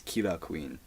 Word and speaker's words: Killer Queen: Similar in JoJo's Bizarre Adventures, one of the main antagonists is Killer Queen, but in the way you pronounce it is Kira Queen.